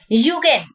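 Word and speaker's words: Zeugen: যেমন সাহারা মরুভূমিতে গৌর সবথেকে ভালো দেখা যায় ইউগেন যুগেন লেখা আছে ইংলিশ ওয়ার্ডটার প্রোনাউন্সিয়েশন হচ্ছে ইউগেন কঠিন এবং কোমল শিলা সমান্তরাল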